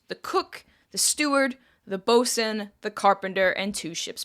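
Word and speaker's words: boatswain: silly to be honest as far as I'm aware bosen is a bastardization of the Middle English word for it and that's just become the accepted pronunciation of the word now bosen anyways this new crew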